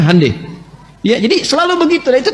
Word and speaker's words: Hyundai: Jepang bikin Honda, mereka bikin hande. Hyundai itu dibacanya hande.